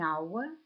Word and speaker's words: hour: яблуко aneg яйце an hour година an Eagle орел в слові an перша буква H приголосна але вона не не читається а для нас має